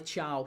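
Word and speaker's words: Thiaw: But yeah, 3-0 down, Miley Tia or Miley Chow. Chiao, I'll say Chiao because apparently that's how you pronounce it.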